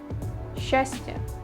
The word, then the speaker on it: счастье: Сч is sometimes pronounced as sh. Счастье, счастье.